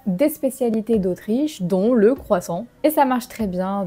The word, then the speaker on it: croissant: On va dire sang. On n'entend pas le T. Croissant, croissant, un croissant.